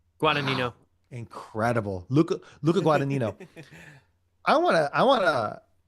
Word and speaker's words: Guadagnino: Guadagnino. Guadagnino.